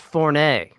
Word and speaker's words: Forney: got this watch fournet that's very good that concept there is actually a an acceptable pronunciation in french my name is french there you go yeah